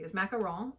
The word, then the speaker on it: macaron: as what he thought it's i'm not most pronouncing this macaron and it's basically a it's a meringue style